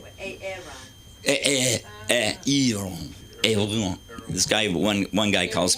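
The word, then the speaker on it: Aeron: I'm like, no, it's not Aaron. It's Aaron. It's much more exotic.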